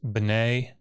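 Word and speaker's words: בני: This comets is long. Now it's in an open syllable. It reduces to shava, and you get b'nai.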